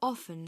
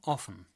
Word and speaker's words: often: To ask how often someone does something, you need to ask this question. How often? How often? The word can be pronounced. Often. Often. Or, Often. Often.